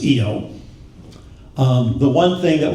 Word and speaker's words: Io: Some people want to pronounce that Io, but I know it's Io.